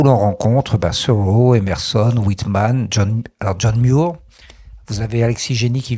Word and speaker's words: John Muir: se prononce Somerset Maugham, mais John Muir se prononce John Muir, donc je vais souvent le dire John Muir, mais ça s'écrit M-U-I-R.